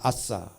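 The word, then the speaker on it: עשה: 일을 행하리라 라고 하는 말을 제가 히브리어를 찾아보니까 히브리어 발음이 아싸입니다. 아싸.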